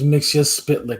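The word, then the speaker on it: Mxyzptlk: minutes of work mixia spit his name is mixia spit goddamn it listen it's hard to pronounce and he can't be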